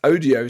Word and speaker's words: ODEEO: just to say yeah so that's Odio spelled o d e e o um CU When you say it when you when you say it quickly enough it sounds like audio um but yeah I